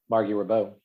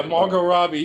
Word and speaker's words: Margot Robbie: don't know who miss eric eric mispronounced yeah fargo robbie yeah margot robbie he was like yeah